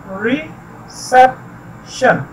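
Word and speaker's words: reception: 3 syllables हैं, रिसेप्शन, और इसमें जिस पर स्ट्रेस किया जाता है वो सेप है, रिसेप्शन।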